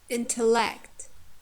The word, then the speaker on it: intellect: Or intellect, intellect, intellect. T. Second is weak.